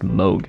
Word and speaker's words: Moog: in my comment section said that this is pronounced Moog so I said moogs today quite proud of